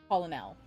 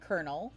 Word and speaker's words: colonel: So I heard it I read it as colonel cuz that's colon l. It wasn't until probably history class in high school, which is kind of embarrassing, that anyone ever wrote this word out and pronounced it as colonel. Like I had heard the word kernel spoken, but I had never